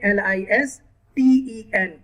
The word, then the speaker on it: listen: Okay, L-I-S-T-E-N, listen. T is a silent letter. Okay, we will not read, and we don't try to read a listen.